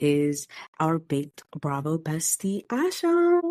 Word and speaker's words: Asha: It's pronounced Asha.